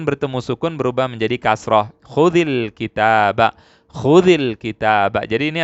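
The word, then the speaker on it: خذي: Khudhil kitaba, di sini khudhi, dan di sini ada kasroh, ya. Khudhi bacanya khudhi begini. Ini aslinya disukun.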